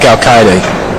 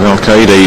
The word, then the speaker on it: Alcaide: I've heard about 15 different pronunciations on the Spaniard's name. I like Alcaide.